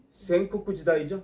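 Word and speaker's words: 戦国時代: 전국시대가 도래한다 자 전국시대 일본어 선택하신 분들 전국시대 발음 쿠 센코쿠 지다이 센코쿠 지다이 시작됩니다이 경국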